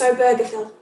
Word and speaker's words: Obergefell: say overflow i did look up how to pronounce it it's obergefell so john arthur and obergefell met in the late in the early 1990s